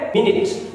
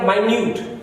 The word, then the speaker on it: minute: I watch live cricket, MINUT एक noun है तो उसका प्रोनाउंसिएशन है मिनट। अगर ये एडजेक्टिव हो गया तो इसका प्रोनाउंसिएशन बदल गया माइन्यूट।